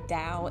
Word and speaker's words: Dao: I learned a little something about the word Dao. It's technically not pronounced with a D. It's pronounced with a sound that's not really native to the English language, that's somewhere between a T and a D.